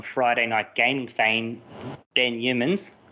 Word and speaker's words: Yeomans: Night Gaming fame, Ben Yeomans. I've said it wrong already, mate. Yeomans. Nailed it straight out the gate.